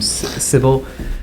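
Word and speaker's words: Sybil: can say my name civil uh uh s YB i l and then like Daisy um and I will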